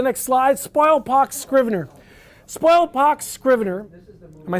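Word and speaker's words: Spoilpox Scrivener: Spoil pox. Scrier.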